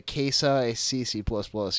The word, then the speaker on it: Xicc++: It's pronouncing it kind of sucks. It's the XICC++. They call it the KSI-CC++.